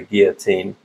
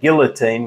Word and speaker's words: guillotine: to crop with a guillotine. Or in Australia, we'd say guillotine. We pronounce the L's, which is actually incorrect.